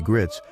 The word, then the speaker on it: Gritz: His wife, Judy Gritz, announced his death on Facebook. She did not provide a specific cause. Mr. Gritz, rhymes with fights, was often compared with